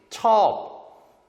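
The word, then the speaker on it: ชอบ: 그래서 발음은 쿤, 당신, 첩, 좋아하다, 매우, 고양이.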